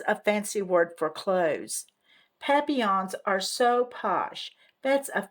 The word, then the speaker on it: papillon: You say it like this, papillon. It's French.